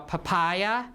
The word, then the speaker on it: papaya: How do you pronounce it? Papaya or papaya or papaya, right? Papaya, right? Papaya. So the stress is on the second syllable.